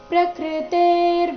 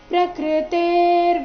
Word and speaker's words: ಪ್ರಕೃತೇರ್: ಪ್ರಕೃತೇರ್ ಗುಣ ಸಮ್ಮೂಢಾ ಸಜ್ಜಂತೆ ಗುಣ ಕರ್ಮಸು ತಾನ ಕೃತ್ನವಿದೋ ಮಂದಾನ್ ಕೃತ್ವಿನ್ನ ವಿಚಾಲಯೇ ಪ್ರಕೃತೆ ಇಲ್ಲಿ ಪ್ರಕೃತೆ ಆದ ನಂತರ ಅರ್ಧ ರಕಾರ ಪ್ರಕೃತಿ ಗುಣ ಸಂ ಸಮ್ಮುಢಾಸ್